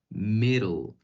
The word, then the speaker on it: middle: Las Ds tienden a sonar como Rs en español, entonces por eso aquí suena como middle, middle.